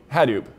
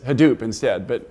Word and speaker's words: Hadoop: Eu tinha escrito "Hadoop" e imaginado que todo mundo pronunciaria "rádup". Acontece que todo mundo fala "radúp". Eu insisto em falar "rádup".